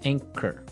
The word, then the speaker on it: anchor: English words right so you don't say an chore you would say anchor anchor anchor anchor so the anchor